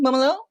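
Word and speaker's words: Mumolo: moomaloo how do we say her name m-u-m-o-l-o momolo um it looks it looks absolutely hilarious and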